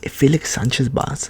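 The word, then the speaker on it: Félix Sánchez Bas: Realistically, I see Ecuador top in the group because if Felix Sanchez Bas, that's how you pronounce his name, if the Spaniard can get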